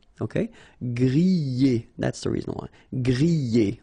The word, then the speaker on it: griller: Remember, er, because these are verbs here. Griller, pocher, éplucher, okay? You pronounce them E, okay, even if you get this R, okay, this combination of 2 letters, R at the end, will give you the sound E, all right, so griller,